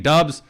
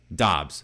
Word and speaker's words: Doubs: about Romeo Dobbs Romeo Dobbs it is apparently pronounced I've been saying dubs remember I started saying daubs then I thought it was Dobbs then all